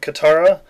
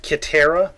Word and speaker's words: Katara: That, I think even the girl who played Katara, or what probably should have been pronounced Kitara, but anyway, that girl,